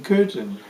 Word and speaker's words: Köthen: No, the turbine was in Köthen. Oh, it was in Köthen. Yeah, Köthen is spelled K-O-umlaut-T-H-E-N.